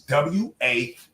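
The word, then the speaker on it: WAWG: Stop calling me WAG Kennels. I'm not WAG Kennels. I don't know what the fuck that is. It's W.A.W.G.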